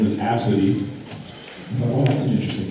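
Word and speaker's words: Abcde: day her name was absidy thought oh that's an interesting name heard anything like that before how do you spell that say like a b c d abses what you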